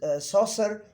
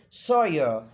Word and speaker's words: Saussure: The saucer is not the correct pronunciation, but not too correct pronunciation, but it is being said in our society. So the real pronunciation is Sawyer. Saucer, not saucer, but in if any